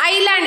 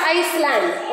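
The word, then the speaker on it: island: लैंड और आइलैंड आईलैंड we read it एज आइलैंड इट इज नॉट आइसलैंड okay because yes इज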